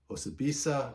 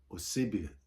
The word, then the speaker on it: Osibisa: Osibisa, or how do I say it? I say Osibisa. I think that's how you pronounce it.